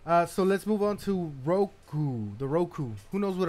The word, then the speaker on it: Roku: Roku. Roku's 3. Roku So- rhymes with Goku.